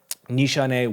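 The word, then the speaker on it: Nishane: is also unique like I was putting on Nishan woong Chaw this morning which was one of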